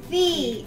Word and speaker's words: phi: Say Phi. Fee. Phi. Me.